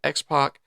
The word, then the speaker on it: X-Pac: the X-Pac. But once 2 Pac, he couldn't do that, so he just said X-Pac. Yeah. I'm not gonna. Is it? But it's spelled like that, like PAC. Yeah, X-PAC.